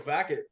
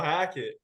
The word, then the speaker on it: Hackett: I'm no Nathaniel Fackett.